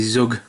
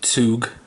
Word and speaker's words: Zug: Interestingly on that, Mighty Zug, the German word for train is Zug, which is Z-U-G, spelled exactly the same. I think a Z in German is pronounced like TS.